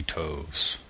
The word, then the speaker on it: toves: how to pronounce slithy toves the eye and slithy as long as in writhe and Toves is pronounced so as to rhyme with groves again the first oh